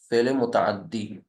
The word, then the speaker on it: فعل متعدی: فعل متعدی، فعل متعدی، ایسے اس کا تلفظ ہوگا، فعل متعدی.